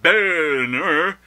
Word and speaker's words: Boehner: House minority leader John Benner who asks that we pronounce his name in a manner contrary to the way it's spelled Mr Boer has now gotten on